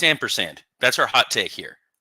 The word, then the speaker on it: ampersand: Is it pronounced ampersand or ampersand? It's ampersand.